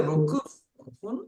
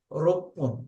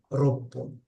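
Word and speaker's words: roppun: Rupun, You can't say Rokufun. It is Rokun. Okay. Rokufun is, you don't say it Rokufun, you say Ropun.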